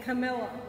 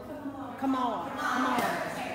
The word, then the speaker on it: Kamala: No, Pelosi and Camilla. Kamala.